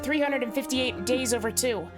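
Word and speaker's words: 358/2 Days: She was like Roxas at the start of 358 Days Over 2. Need to play that. I hate that that's how that game title is pronounced. 358 days over 2.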